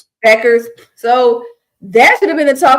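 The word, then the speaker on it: Bueckers: So definitely like Paige, how you pronounce her last name? Beckers.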